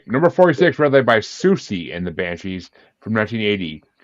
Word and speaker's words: Siouxsie: Susie. Versus, really? Susie and the Banshees. Yes, Susie. Okay, number 46, "Red Light" by Susie and the Banshees from 1980.